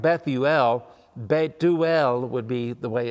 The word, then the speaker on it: Bethuel: Rebecca's father that's uh it looks like bethuel beuel would be the way it's pronounced and he apparently is too old to